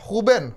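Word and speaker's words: Rúben: Huben, bacanya Huben ya. Huben ya? Huben Dias.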